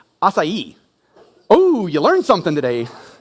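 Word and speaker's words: açaí: it's that like Barry bow thing it's actually pronounced asai oh you learned something today don't tell anyone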